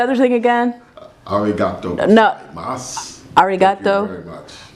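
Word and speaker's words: ございます: Gozaimasu. Arigato. Thank you very much. Arigato. Gozaimasu. Dosaimasu.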